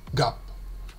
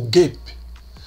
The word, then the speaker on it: GAAP: Quand on parle d'argent, là-bas, ce sont des gaps, US GAAP ou GAPE. Je suis américain, GAPE.